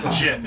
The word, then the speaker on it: GIF: I think it's pronounced Jiff, yeah. I hate you. It's Jiff. Don't think because I'm friends with you, I won't stab you. It is not GIF.